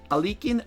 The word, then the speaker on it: Alekhine: It is some like Alekhine, but not Alekhine. It is not yo, but E. Alekhine, Alekhine.